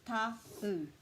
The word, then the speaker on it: Tauranga: So for Tauranga, the key to our pronunciation is to put a break after every vowel. So this is ta-u, tau, tau, tau, au, and we just say it faster.